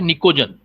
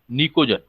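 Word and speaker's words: Pnictogen: 15th number group को बोलते हैं निकोजन, पी साइलेंट रहता है, निकोजन, जैसे निमोनिया में पी साइलेंट रहता है ऐसे ही निकोजन।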